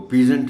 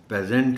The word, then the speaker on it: peasant: मतलब वही बात है कि अगर नहीं किसी को पता तो वो वैसे तो वो पीजेंट भी पढ़ सकता है, वो पेजेंट भी पढ़ सकता है, बट the correct pronunciation is पेजेंट. Reward, एक तो ऑ साउंड